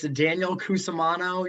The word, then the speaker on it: Daniel Cusimano: I mean, just in case I said the name wrong, I don't think I did, but can you say your name? Yep, it's Daniel Cusimano.